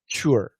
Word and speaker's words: cure: So we can say cure. What's the cure? What's the cure? We have two pronunciations. And some people say cure, and some people say cure. Okay? Perfect pronunciation is cure. But cure, you're going to hear cure a lot.